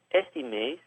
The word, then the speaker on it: este: One thing I'd like to note is that Carioca is going to pronounce the este part differently. It's more of a sh sound. So it would be este mês.